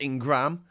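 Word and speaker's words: Ingraham: and Laura ingrah Ingram it's in Graham but it's pronounced Ingram she's an insult to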